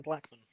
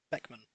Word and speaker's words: Beckman: Yo, Ben Blackman. Beckman. I said his name wrong.